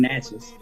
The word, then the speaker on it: Natchez: Can you pronounce that for me, please? Mississippi? Yeah, I'm from Natchez.